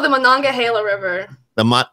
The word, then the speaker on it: Monongahela: like i know we couldn't even attempt to pronounce that yeah it's called the monongahela river the monongahela monaco i would be able to say it